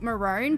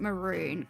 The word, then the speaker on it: maroon: Yeah, cuz we pronounce it Marone, but other countries pronounce it maroon.